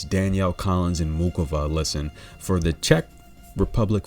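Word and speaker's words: Muchová: the pronunciation right so instead of much over we're gonna say mukova listen now she's taking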